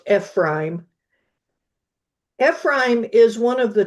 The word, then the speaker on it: Ephraim: Ephrime is how you pronounce that. FB prime. That's we often say Ephraim. I had an uncle, a great uncle named Ephraim, but um it's technically pronounced Ephraime.